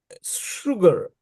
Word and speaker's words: sugar: know their pronunciation like sugar. You you write s u g a r but they pronounce sha sugar not sha.